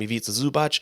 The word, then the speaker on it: Ivica Zubac: We have, in that same game, Ivica Zubac, which I could not say that name for the longest time. Now we can, because it rhymes with pizza.